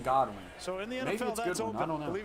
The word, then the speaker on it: Godwin: that kick tip julian he just pronounced some goodwin so my knowledge it's always been godwin so in the end